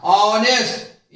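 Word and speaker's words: honest: एच है और एच यहां पर साइलेंट है, यानी एच का उच्चारण ह नहीं हो रहा, ऑनेस्ट यहां से उच्चारण हो रहा है, ओ से हो रहा है ऑनेस्ट।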